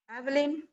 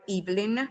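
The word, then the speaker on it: Eveline: are going to read evelyn or evelyn both pronunciations are possible and the dead that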